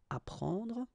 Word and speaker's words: apprendre: The first one, AP, so app, you will get apprendre. Apprendre, okay, you don't pronounce the double P.